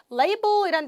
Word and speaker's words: label: Label이란 단어 발음 꼭 기억하셔야 됩니다. 뭘까요, 우리나라 말로? 그렇죠, 라벨입니다. 라벨 영어로 라벨 아니었다, 그렇죠? Label이란 발음 기억하세요.